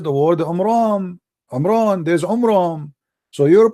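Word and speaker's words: Amram: First of all, the father of Moses, his name is not Umran, his name is Umram, according to the so he got the name wrong.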